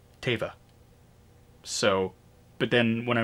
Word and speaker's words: Teva: there you go um teva is pronounced teva not tiva that's a really good question um i've done it both ways i've heard it pronounced both waves uh i'm not sure myself although favreau if i recall correctly said tava so but then when